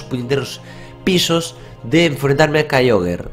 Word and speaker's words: Kyogre: estaba a dos puñeteros pisos de enfrentarme a Kyogre, o Kyogre, o como queráis pronunciarlo. Lo vamos a pronunciar Kyogre, ¿no?